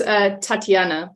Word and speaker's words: Tatjana: It's Tatjana. Pretend the J is a Y.